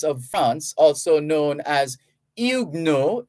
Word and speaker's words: Huguenots: France also known as igno h-u-g-u-e-n-o-t-s the T there is silent because it's French h-u-g-u-e-n-o-t-s so they're also there were also the calvinist Protestants of France were also known as igno igno uh it's been